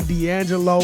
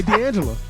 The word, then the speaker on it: De'Angela: Could you say her name again? Joy D'Angela. What did I say? You said D'Angelo.